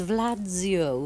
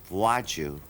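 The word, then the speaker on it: Władziu: I'm very well thank you your name is Vlad Zio Valentino is that the right way to say almost got it right I actually never used the name it's pronounced vaju and of course uh I wasn't able to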